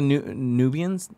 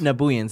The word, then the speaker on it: Nabooians: So, Tyler Newgroove in the chat says, when they fought the Nubians, is that the right way to say it? The Nabooians? Nabooians, there you go.